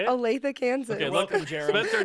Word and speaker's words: Olathe: Olathe, Kansas.